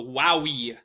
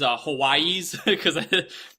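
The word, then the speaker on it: Huawei: So, in any case, this I'm going to call it the Wowie. When I worked with phones, I would call these Hawaiis, but YouTube has informed me I think you're supposed to pronounce it Wowie.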